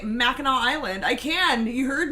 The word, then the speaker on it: Mackinac: You guys can't say Mackinac Island. I can. You heard me. It's Mackinac.